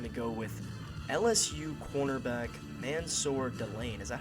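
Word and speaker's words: Mansoor Delane: and they're going to go with LSU cornerback, Mansour Delane. Is that how you say his name? Yes, Mansour Delane.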